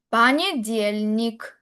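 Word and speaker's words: понедельник: Ahora vamos con las palabras que son los días de la semana en el idioma ruso y sería pañelnik. Pañelnik. La tilde va caer en la y pañelnik lunes.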